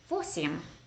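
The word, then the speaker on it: восемь: four sim four Sim it's kind of like seven CM except it has a vo at the beginning phosium that's one way to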